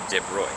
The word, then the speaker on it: de Broglie: winter my man louis de bruy it's spelled de broglie it's a weird and french name but it's it's pronounced de bruy he won the nobel